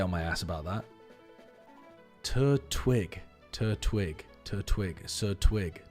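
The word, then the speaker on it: Turtwig: It just seems really weird to not put to not attach the t to the first syllable. Tur twig. It's like a wig you put on a turt.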